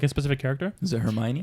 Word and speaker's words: Hermione: Is it Hermione? It's Hermione.